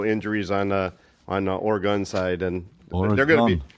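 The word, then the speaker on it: Oregon: Or gun. She said you just take a picture and make a gun symbol. You'll never forget it again.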